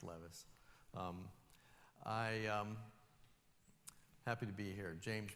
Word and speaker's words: Levis: It's pronounced Levis.